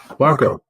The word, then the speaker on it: WACO: WACO. Just think taco. WACO.